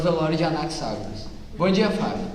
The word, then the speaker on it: Anaxágoras: Então, Franciele, como pode ver, as teorias do senhor Anaxágoras Seria Anaxágoras, né? Dá licença, é Anaxágoras. Pronúncia correta, Anaxágoras. Só isso, muito obrigado.